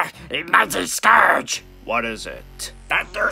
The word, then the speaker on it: Scourge: Thank you, Scour Rage! It's Scourge. No, I'm pretty sure it's Scour Rage. Scourge! Scour Rage!